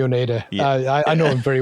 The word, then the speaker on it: Oneida: Nick from, I'm pretty sure it's pronounced Oneida Effects. Nick Wonder from Oneida Effects. Wonder. No, it's definitely Oneida.